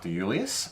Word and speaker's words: de Iuliis: So we've got a winemaker from the Hunter Valley called de Iuliis, and hopefully I pronounced that correctly, considering how many I's are in his last name. It is pronounced correctly.